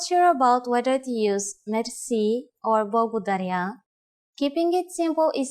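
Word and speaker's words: мерси: Merci. Merci is a loan word from French, but it is pronounced with the typical Bulgarian hard R.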